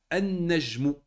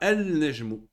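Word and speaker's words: النَّجْمُ: On ne dit pas al-najmu. Là, là, là. Vu que le noun fait partie des 14 lettres qui sont Shemsia, qu'est-ce qu'on fait? On ne prononce pas le lem. Et on rentre directement dans le noun.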